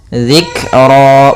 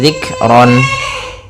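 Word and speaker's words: ذكرا: Dzikra, bukan lagi dzikron.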